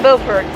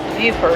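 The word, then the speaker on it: Beaufort: Buford. Not Buffford. Buford like Buford T. Justice.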